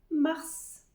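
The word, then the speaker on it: marts: fébrouir le mois suivant mars mars c'est comme la mar Mar sans prononcer le E bien sûr et après on ajoute le petit son t t s mar avril April là aussi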